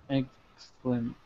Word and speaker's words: exclamation: Exclamation. So you notice where we have the EX, we're not pronouncing the E, it's just exclamation. We're not really saying the E here.